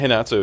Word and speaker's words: Renato: I know that Renato is like more of a H sound than an R, just because of the way that Brazilians speak Portuguese. The way the Brazilian Portuguese is spoken.